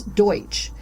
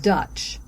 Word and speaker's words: Deutsch: were already living there mispronounced the german word for german which is deutsch so it sounded like dutch and these folks became